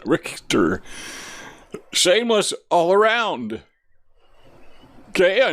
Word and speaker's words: Richter: Notice the German pronunciation. Richter.